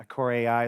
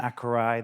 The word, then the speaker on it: Acorai: thank you we have about a thousand pronunciations of our name um acore AI is one of them aurai the French go for Aur so whatever floats your boat um my name is